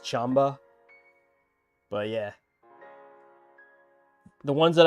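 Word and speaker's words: Qanba: iteration of I'm sorry I keep saying Quamba. It's like pronounced Chamba.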